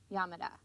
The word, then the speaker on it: Yamada: today is suzanne susan yamada yamada you don't put any accent on any particular syllable in japanese usually which means that in